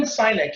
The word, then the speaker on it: Sinek: Okay, Sinek. Simon Sinek. Thank you. I butchered that.